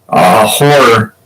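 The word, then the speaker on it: HO99O9: I like this band called Horror, but it's spelled with 9, so it's HO9909.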